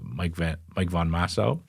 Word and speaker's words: Mike von Massow: We're going to speak to Mike von Massow. Did I pronounce that right? You did.